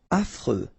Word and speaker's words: affreux: Affreux. Final X not pronounced. And then you get this freux, freux, affreux.